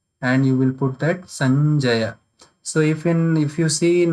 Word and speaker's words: Sanjaya: So when you will pronounce, then you will pronounce this also like Ganga. So the sound should come like that, like Sanjaya, Sanjaya.